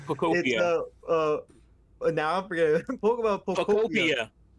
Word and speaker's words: Pokopia: It's pronounced Pokopia, Pokopia. like Utopia. Just think Utopia.